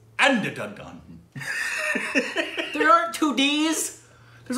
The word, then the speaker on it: Andhadhun: How would you pronounce Andada? There's an N at the end of hold that. Hold on. Andadhun.